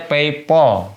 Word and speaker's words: PayPal: Bacanya PayPal. Tuh yang bener.